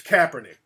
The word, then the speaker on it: Kaepernick: So it's Kaepernick. It's real funny style about certain word pronunciations, because I remember when I went down